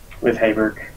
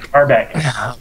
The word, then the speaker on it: Harbeck: With any extra time probably spent relaxing with Hayberg. Harper, did I pronounce that right? Harbeck. I knew I had a consonant wrong in there.